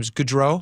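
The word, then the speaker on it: Gaudreau: kids from is it how do I pronounce his name? Gdro. Johnny Gdro.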